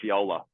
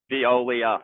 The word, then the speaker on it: Veolia: I hope I don't butcher the pronunciation of this. It's Veolia or Viola. So close. Great work. Well done, Melanie and the team. Congrats, Melanie. Veolia.